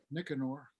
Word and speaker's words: Nicanor: Yeah, Nicanor.